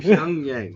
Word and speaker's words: Pyongyang: Pyongyang.